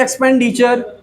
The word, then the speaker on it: expenditure: अब आते हैं TURE पे, यह भी एक सफिक्स है जिसका प्रोनाउंसिएशन होता है चर। जैसे एक्सपेंडिचर, नोटिस में आप गए, टूर जाना है तो एक्सपेंडिचर क्या है, उसका खर्च क्या है, इसकी स्पेलिंग EXPENDITURE। तो TURE क्या हो गया, चर हो गया।